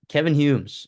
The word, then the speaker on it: Kevyn Humes: let's get into Kevin Humes. Is that how you pronounce it, Christopher?